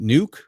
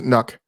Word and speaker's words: NUC: the Asos is it nuke yeah yeah yes most people pronounce it I think the technically correct pronunciation is nuck but I I still